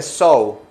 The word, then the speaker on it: sew: se coser se dice so so miren so se pronuncia igualito que la palabra sou se fijan Miren la palabra so se pronuncia igual que so Cómo la ven Cómo